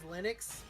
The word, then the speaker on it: Linux: he stated that it's it's always Linux and he also stated that his name has different pronunciations based on where you're at. His own name has different pronunciations, but he said Linux is always Linux.